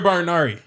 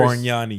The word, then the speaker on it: Bargnani: Andrea Barnari. That's his name, Say it right? one more time. I can't say his name. bro. Andrea Ballerno. Andrea Bariani. Ooh, that was worse. Bargnani. Yeah. He's Italian.